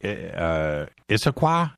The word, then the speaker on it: Issaquah: And it's so funny because that city, Issaquah, is that how you say it? Yeah.